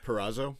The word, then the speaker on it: Purrazzo: Purrazzo? Yeah, I believe that's how you pronounce it.